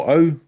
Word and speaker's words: au: So in Māori culture, ko au, AU, we pronounce O.